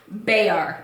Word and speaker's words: Bexar: And it's pronounced Bayar. Yep. Still the county of San Antonio. Yep. Bexar County.